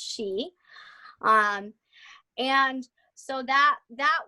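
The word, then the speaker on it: sidhe: spelled it looks like sid hey so a lot of people who aren't familiar with the word will say it like that but it is pronounced she um and so that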